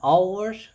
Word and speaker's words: hour: An hour, this is the vowel sound. The H is silent, so it starts with an O vowel sound.